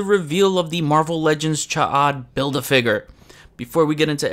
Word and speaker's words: Ch'od: As expected, Cha'ad, I'm pretty sure that's the proper way to pronounce it. Some say Chode, which I have said it that way before, but that's deemed as a short penis, so I won't put